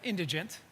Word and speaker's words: indigent: Change that indigent. Indigent syllable emphasis on the first syllable indigent.